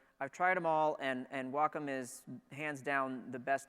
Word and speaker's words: Wacom: I am a fan of Wacom devices, and I'm saying it correctly, by the way, in case anybody ever wondered how you say that word. It's not Wacom, it's not Wacom, it's Wacom.